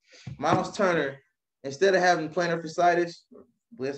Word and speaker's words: plantar fasciitis: Myles Turner, instead of having plantar fasciitis, that's how you say it.